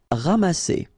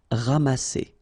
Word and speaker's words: ramasser: Ramasser. Remember, double S here between two vowels. Here you get a strong S sound, okay? Ramasser.